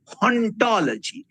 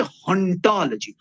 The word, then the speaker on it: hauntology: প্রসঙ্গে, যেটাও সবাই জানেন, হন্টোলজি, HAUNTOLOGY, হন্টোলজি। এবং উনি ন্যাচুরালি এখানে পান করছেন, এবং ফ্রেঞ্চে অবশ্যই সবাই যেটা জানেই যে যেহেতু এইচ শব্দটার উচ্চারণ হয় না, তো সুতরাং অন্টোলজি বললেও অন্টোলজি হবে, হন্টোলজি বললেও অন্টোলজি হবে।